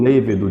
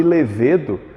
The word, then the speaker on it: lêvedo: a palavra levedo levedo o lêvedo de cerveja também pode ser chamado de levedo o Volp atualizou recentemente que levedo também é possível sem acento hieróglifo hieroglifo hieróglifo hieróglifo